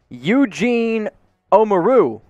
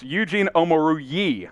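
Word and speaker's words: Eugene Omoruyi: Eugene Omaru. That's close. The first three syllables were right there. You just got to finish Eugene Omarui? That's very close. Eugene Omaru-Yee. Omaru-Yee.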